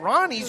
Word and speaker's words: Ronnie: Shout out to Caden Ronnie's grandma, who let his mom know that the correct way to say his last name is Ronnie.